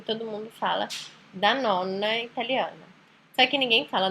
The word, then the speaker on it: nonna: Que é diferente de falar nona e diferente de falar nonna.